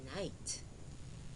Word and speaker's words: night: When GH is silent, it says nothing, as in night, N-I-T, night.